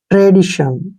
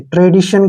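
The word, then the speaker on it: tradition: रूप में लिखते हैं जब भी टी आई ओ आता है उसको श पढ़ते हैं एन को न पढ़ेंगे ट्रेडीशन ऐसे ट्रेडीशन क्या होता है परंपरा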